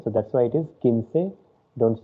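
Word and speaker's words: quince: k of english and when q u i comes it becomes key okay so that's why it is kinsey don't say queen say or anything other like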